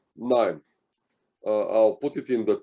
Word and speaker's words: KNIME: So the tool which I personally like the most is called KNIME. I'll put it in the chat box here. It's spelled K-N-I-M-E.